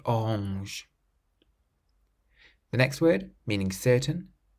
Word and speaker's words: orange: How would you pronounce the seventh word, which means orange? Orange.